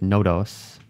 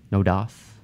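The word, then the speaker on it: NODOS: and an AI named I'm gonna pronounce it no dose n OD OS no dose it was put in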